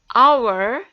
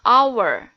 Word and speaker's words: hour: Nah, kalian perhatikan pada kata hour, ya, di situ hurufnya H atau H, tetapi dibacanya hour, tidak dibaca hour. Maka the di sini dibacanya the hour.